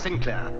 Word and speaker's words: Sinclair: Actually, I'm pronounced Sinclair, English branch. You know, we have many a good laugh at home. You see, uh, he's saint and I'm sin.